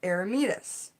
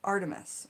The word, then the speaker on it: Artemis: those once created for air meatus artemis excuse me artemis i pronounced that wrong the lit candles are